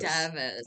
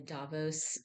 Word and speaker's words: Davos: Oh, I'm sorry. Davos. Davos. I think that I think that's the correct pronunciation.